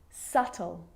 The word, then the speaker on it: subtle: subtle debt and doubt so see in all of those examples my lips aren't closing and coming together to form the b sound i'm just pronouncing the t subtle debt and doubt now the letter c